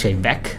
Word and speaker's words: Te Bheag: 11 years yeah ghin it's pronounced shame back and it's Gaelic for the little lady yeah stay back shame